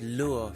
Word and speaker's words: lure: But if you mean how to say the word lure phonetically, it'd be pronounced like lore.